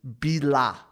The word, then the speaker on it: BILA: this is the three-piece punk band known as billah did i pronounce it correctly okay cool i had to